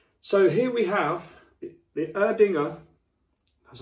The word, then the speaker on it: Erdinger: So here we have the Erdinger, that's how you say it, alcohol-free beer.